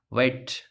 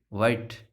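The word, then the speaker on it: white: जैसे इसमें क्या साइलेंट है, इसमें एच साइलेंट है, इसको हम क्या पढ़ेंगे, वाइट, क्या पढ़ेंगे, वाइट, वाइट, तो ये देखो वे,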